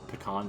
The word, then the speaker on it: pecan: Pecan pie.